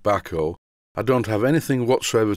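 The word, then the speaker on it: Bahco: back or products and I think it's pronounced back oh I don't have anything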